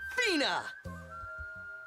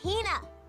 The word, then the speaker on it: Hina: And this young lady is my traveling companion, the esteemed archaeologist, Fina! Ugh, you keep saying it wrong. It's Hina. Hina.